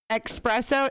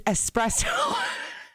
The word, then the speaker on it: espresso: years old today when i learned that expresso is espresso i almost put that